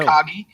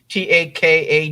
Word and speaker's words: Takagi: How do you pronounce that name? I didn't know. I don't know. Takagi. Takagi.